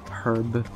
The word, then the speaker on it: herb: so arab of valor herb i don't understand why the americans don't pronounce the h and the brits do that confuses me uh